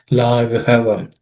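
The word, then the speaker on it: लाघवम्: Yasyasi laghavam. This gha is an aspirated gha, which is the fourth letter in the ka class of consonants, or ka varga. Laghavam.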